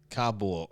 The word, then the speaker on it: Kabul: And it's spelled Kabl, no U. That's right. Kabul.